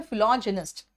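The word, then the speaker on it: philogynist: फिलोजिनिस्ट, fill मतलब love, अभी बताया आपको, और जिनी या गायनी इसका मतलब होता है विमेन, महिला, और इसका प्रोनाउंसिएशन है फिलोजिनिस्ट।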